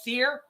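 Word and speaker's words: cere: 10 months if it's a male i don't pronounce it right it's c-e-r-e seer it will turn blue oh my judy judy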